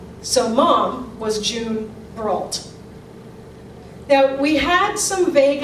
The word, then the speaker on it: Brault: She made them pronounce it the way it was spelled, and it stuck. Great-grandma and Grandpa were Mr. and Mrs. Bro. Grandma and Grandpa were Mr. and Mrs. Brault.